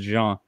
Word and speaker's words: Jean: he's French Canadian, and it is indeed pronounced Jean, like Jean-Luc Picard.